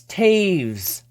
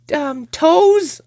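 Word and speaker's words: Toews: friends in season highlights Taves or as some people I try to get them to say that especially people that don't know hockey very well say his name it's like toes yeah that's toes don't you forget it it's toast anyways carrying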